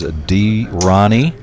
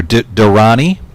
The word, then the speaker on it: Durrani: It is Durrani, or Durrani. 3.2 million. I've been saying it wrong.